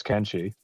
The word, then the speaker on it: Kenshi: put he or kimchi like Ken doll and then she as in girl can she but you say it really fast so it goes together all right no that's kimchi